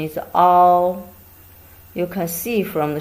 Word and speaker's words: 凹: This character pronunciation is all. You can see from the shape. Here is a hollow. Actually, it's a place lower than the level around it. It's a concave. 凹横折折.